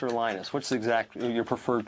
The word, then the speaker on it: Linus: speak finnish it's linos when i speak english it's linus and i really don't care how people pronounce my name but linux is always